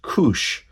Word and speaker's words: Kuš: magazine and it's called it looks like an s I believe the pronunciation is Kush and Kush is an anthology